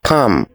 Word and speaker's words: palm: Next, this is not palm. The silent letter is L, so it is just palm.